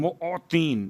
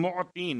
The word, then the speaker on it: معطین: ان میں سب سے بہترین۔ یا خیر المعطین، معطین، میم عین توئیں یہ نون، معطین، موتی۔ اب چونکہ اگر تلفظ میں غلطی ہو جائے تو بات کہیں